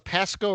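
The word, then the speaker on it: Pascoag: It's spelled P A S C O A A G. So, it looks like Pasco Cog, but I believe it's Pasco like Bear Pasco, the former tight end of the Giants.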